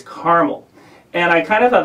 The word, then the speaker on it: Carmel: he corrected me i said oh you're from carmel and he said no it's caramel and i kind of thought that was amusing